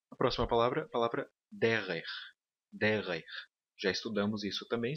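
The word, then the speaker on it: דֶּרֶךְ: E o acento aqui na primeira sílaba. A próxima palavra, a palavra derer.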